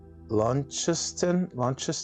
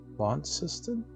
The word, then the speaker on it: Launceston: Launceston, Tasmania. Ooh, is that how you say it? Launceston? That's cool. Launceston.